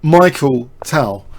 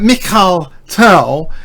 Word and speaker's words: Mikhail: Why someone says Michael Tal. Because it takes all the prestige out of the rich heritage of USSR chess to assume that Mikhail Tal is like Michael. Yeah, it's not pronounced like that.